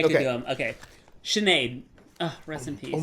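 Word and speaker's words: Sinéad: pronouncing it correctly? Yeah, no, Sinead O'Connor.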